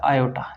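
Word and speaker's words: aorta: इस एर्टिक वाल्व से सबसे बड़ी धमनी ए ओ आर डी ए ओटा या आयोटा इसमें आर साइलेंट होता है।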